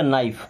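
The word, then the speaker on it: knife: क्या बन जाता जन अब कुछ लेटर्स कुछ वर्ड्स में के साइलेंट होता है जैसे यहां पे के साइलेंट है एन के पहले हमेशा के साइलेंट ही होता है ये बन जाएगा न्यू क्या बनेगा न्यू ये बन जाएगा नो ये बन जाएगा नॉक ये बन जाएगा नाइफ नाइफ का मतलब क्या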